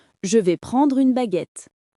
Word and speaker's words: baguette: Et pour baguette, c'est facile. Baguette. 2 syllabes.